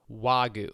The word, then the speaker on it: Wagyu: It's Wagyu.